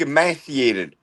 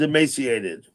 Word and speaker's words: emaciated: The correct pronunciation is emaciated.